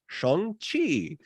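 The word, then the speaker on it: Shang-Chi: it so trust me the way this is pronounced is Chong Chi chongqi and the legend of the ten Rings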